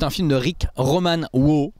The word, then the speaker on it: Waugh: C'est un film de Rick Roman Waugh. Waugh, ça doit se prononcer Waugh. W-A-U-G-H, comment vous prononcez ça? Waugh? Waugh? Comme un walk, hein, avec The Rock, Dwayne Johnson, s'appelle Infiltré, Snitch.